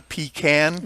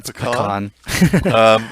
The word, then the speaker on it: pecan: um i i think i'm heavily texas influenced and it's um not a pecan right it's a pecan i love pecan pie